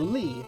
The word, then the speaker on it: Li: Oh, Laurie's HP is nice. Yeah, so Li, not Laurie, Li.